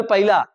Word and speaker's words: पहला: ये पहला है, पहला, ठीक, पहला, नॉट पहिला, पहला, पहला, ठीक।